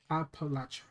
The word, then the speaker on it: Appalachia: I was pronouncing it right. Appalachia.